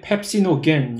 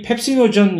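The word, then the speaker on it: pepsinogen: 근데 그 비활성화된 형태의 효소는 이름이 펩시노겐, 영어로 펩시노전이라고 하는 효소인데 그러니까 이런 식으로 비활성화되어 있는 형태 많습니다.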